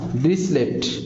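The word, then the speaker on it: Dirichlet: দৃশ্যলে গুণজ হ্যাঁ ডিরিসলেট, এটাই নাম ডিরিসলে উচ্চারণ হয়, ডিরিসলে টি উচ্চারণ হয় না।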